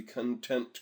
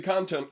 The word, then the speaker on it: content: Make sure that the content control can't be deleted. I put the emphasis on the wrong syllable there. It's not a control that's kind of content. It's the content control can't be deleted.